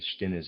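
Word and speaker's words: Stinnes: Readers aside, Stinis, I'm pronouncing it that way, is is spelled S T I N E S.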